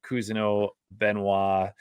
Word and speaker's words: Cousineau-Benoit: it um ladies and gentlemen that is Dominic keno benois and I am did I say it right